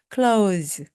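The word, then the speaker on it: clothes: Z입니다 다음은 옷인데요 옷을 우리가 그전에 학교 다닐 때는요 cles고 배웠습니다 그런데 지금은 그렇게 말하지 않고요 그냥 cles cles 이렇게 말씀하시면 됩니다 그래서 네옷 하면 my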